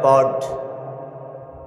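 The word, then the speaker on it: Ford: কোম্পানির নাম হলো প্রড ওই আর্টটা সাইলেন্ট থাকে তাই উচ্চারণ হয় পড গাড়িসহ অনেক কিছু বানায়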